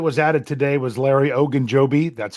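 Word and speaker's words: Ogunjobi: a player that was added today was Larry ogan Joby that's how you say it Jeff um but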